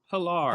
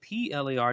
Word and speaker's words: Pilar: Pilar. Pilar. Oh, okay. I did PLAR.